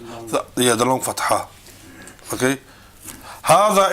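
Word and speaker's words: هذا: Hada is pronounced as it were written with an alif.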